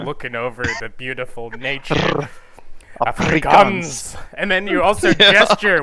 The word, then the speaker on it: Afrikaans: Xhosa, and English and Afrikaans. And I'm not even pronouncing them correctly, but Well, let me try. those were the main. Let me try. Afrikaans. Afrikaans. Afrikaans. Yeah. Afrikaans. You gotta roll the R, Yeah.